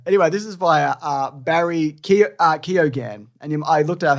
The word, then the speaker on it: Keoghan: Anyway, this is via Barry Keoghan, and I looked up how to pronounce that. His And it's Keoghan?